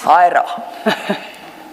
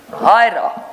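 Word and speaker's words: Huayra: Hyra. Sorry, ma'am? Hyra. Oh, okay. I dare not pronounce it back.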